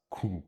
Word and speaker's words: cú: Because of the M, it can be pronounced very heavily nasally as cú.